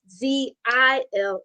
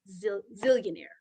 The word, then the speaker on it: Zellionaire: So the Zillionaire is ZELLIONAIRE. It is not ZILL. And I got to be dramatic because I'll spell it and people like ZILL. No, ZEALLION. AIRL, being zealous, having that fervor and tenacious desire to get it done.